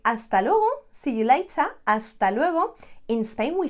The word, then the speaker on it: hasta luego: you can just say hasta luego again remember that h not there you don't pronounce it hasta luro see you